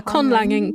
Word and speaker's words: conlanging: Yeah, conlanging.